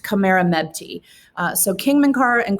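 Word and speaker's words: Khamerernebty: all of those jumble of letters but it's pronounced kamera mebty uh so king minkar and queen khmer mepti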